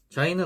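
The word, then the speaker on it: زاي: 요 자이 같은 경우에는 발음이 이 혀 끝이 이를 앙 다물었을 때 앞니 뒤에 닿기까지 이제 닿으면 안 되고 닿기 전까지 가서 이제 자이 이런 식으로 발음을 합니다. 영어로는 Z와 같습니다. 지트.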